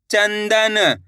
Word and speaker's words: चंदन: चाम अनुस्वार की मात्रा चन द न, तो बताइए मिलके क्या बनेगा? चंदन।